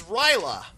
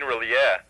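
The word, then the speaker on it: R'lyeh: What is Ryla? You mean Relia. Oh, okay. Oh. Sorry about that Sumerian pronunciation here.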